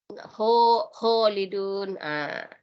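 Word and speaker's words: خَالِدُونَ: Nah, ini masih kedengaran tadi kho-nya, bunyi O-nya. Khalidun. Kha padahal khalidun. Kha. Sudah benar ditenggerokan, cuma terlalu kedengaran bunyi O-nya. Itu tadi kita terlalu banyak mengikuti lahjanya orang Jawa itu. Kho banyak O-nya kalau mengaji.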